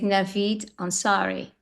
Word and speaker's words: Navid Ansari: And it gives us a very powerful impression, which will happen today with Navid Ansari.